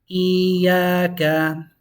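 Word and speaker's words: إِيَّاكَ: You have to really hold on to that E and really hold on to that A.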